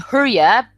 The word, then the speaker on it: Hurja: gonna learn some of that that's good you pronounce your family name hura right yes yeah the J everybody else pronounces it herah I always tell everybody if it was spelled